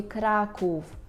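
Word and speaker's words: Kraków: таку з рискою і ця буква вже тоді читається як у у я всіх своїх студентів прошу запам'ятати це у слові Краків Краків Краків Усенка наприклад Так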